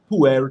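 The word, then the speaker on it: pu-erh: There's a tea we carry called pu'er tea. That's spelled P-U-ERH.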